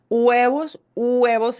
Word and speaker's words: huevos: Huevos, and notice we don't pronounce the H, the H.